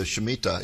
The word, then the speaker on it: Shemitah: And now you have a new book out called The Mystery of the Shemitah. Is that the correct way to pronounce that?